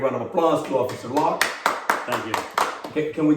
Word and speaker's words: Locke: uh officer lock with an e at the end however i was just told that the e is silent okay very silent so